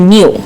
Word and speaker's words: Niu: she translated coconut to Niu. And Niu also is... Oh, well, phonetically it sounds like New, N-E-W.